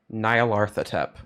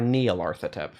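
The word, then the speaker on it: Nyarlathotep: is Nile artha temp that is spelled n-y-a-r t-h-o tep Niall artha tep or Neil arthritep it's I've heard it pronounced both ways and you can tell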